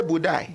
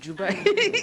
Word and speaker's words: Dubai: Now, some say no sabi pronounce Dubai. They say where they go. They say Budai. Dubai. Dubai. Budai.